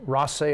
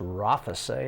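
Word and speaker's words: Rothesay: a great number to Ross a high school who of course I used to pronounce Rafa say high school but learn that number three is Harrison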